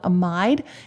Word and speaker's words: amide: Sometimes people pronounce that I long and call it amide.